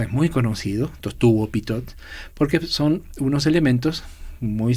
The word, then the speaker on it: Pitot: es un pequeño tubito que se llama tubo pitot. ¿Cómo se escribe?